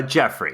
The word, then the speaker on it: Geoffrey: background and how how that's used absolutely uh Jeffrey is how it's pronounced yeah like uh in let's see in